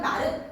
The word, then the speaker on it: 말: 똑같은 말이라고 쓰여져 있지만 얘는 동물을 뜻하는 말은 말! 하고 짧게 해요. 하지만 너 왜 이렇게 말이 많아? 말이 많아! 할 때 이 말은 자 보세요 여기 점 소리의 길이를 길게 발음합니다. 그쵸?